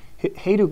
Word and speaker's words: Hajduk: But Hayduke is spelled Hajduk.